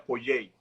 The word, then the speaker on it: Poyais: Yo estoy pronunciando Pollais porque es como se escribe, pero realmente sería Pollei.